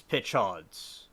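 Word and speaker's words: Peychaud's: Paya Chahons Bitters. Thanks, Mary, for the pronunciation. And cocktails first made in New Orleans in 1830s. Pitchauds. It's Pitchauds.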